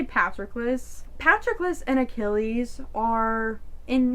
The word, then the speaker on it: Patroclus: The author herself says 2 different pronunciations. I'm gonna say Patroclus.